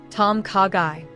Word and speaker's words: ต้มข่าไก่: Tom kagai in Thai.